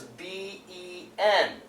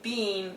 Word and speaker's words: been: The American pronunciation is B-E-N. Ben. We don't say bean, we say Ben.